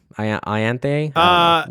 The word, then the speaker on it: Ianthe: Tam and Lucian go to deal with whatever this nameless threat is, and Ianthe, how did we pronounce this? Ianthe? Ianthe.